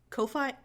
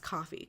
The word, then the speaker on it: Ko-fi: now I have my Co fight my coffee I said Co fight but I'm pretty sure it's pronounced coffee because it's okay anyway